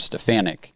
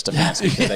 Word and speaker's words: Stefanski: And the second thing is that our head coach must be named Stefanik instead of Stefanski.